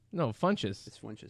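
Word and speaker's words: Funchess: mean she's she's named flinches no Funches when she said there's no L in it but I spell flinches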